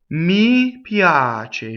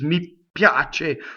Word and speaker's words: mi piace: So what I hear all the time in this is mi piace with a double P where it doesn't belong. So this is a weak monosyllable, so it flows really nicely.